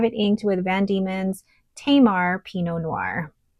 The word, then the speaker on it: Tamar: And I have it inked with Van Diemen's Tamar Pinot Noir. So I had somebody correct me on the pronunciation of that. So it's Tamar, which I believe is a region in Australia.